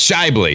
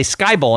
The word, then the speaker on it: Schaeuble: to screw it up it's Scott no it's Shively shyboy Adam Shively I was gonna say Skyy ball and I knew that wasn't right so Adam Shively he is the host